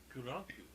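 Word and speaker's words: クランク: That's how you say it in Japanese.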